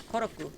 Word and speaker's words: Koroku: is Kos Kos Kos oh wait did I say it wrong um he's young a sorry his younger brother is koroku yes we have to